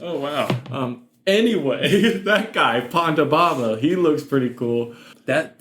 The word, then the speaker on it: Ponda Baba: I search Pondo Bamba and I'm just getting Mambo number 5. I think these are CPAP machines. Ponda. Sounds like you're just like mispronouncing panda. Ponda Baba.